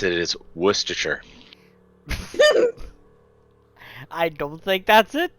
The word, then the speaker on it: Worcestershire: The way to pronounce it is Worcestershire.